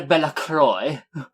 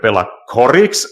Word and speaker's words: Bellacroix: No, you see, Croix is how English-speaking people often mistake pronouncing. Yeah, it's supposed to be Bella Croix.